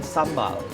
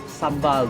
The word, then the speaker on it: sambal: This is what they call sambal, okay? But actually it's not sambal the way we pronounce it, it's sambal.